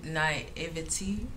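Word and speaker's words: naïveté: i'd like to say naivete night eva t i believe that's how you say it it's not exclusive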